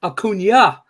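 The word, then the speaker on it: Acuña: love the show but it's pronounced Acuna not akun uh well it's pronounced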